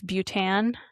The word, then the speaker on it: Bhutan: I think I said Bhutan. Is it It's butan either or is fine.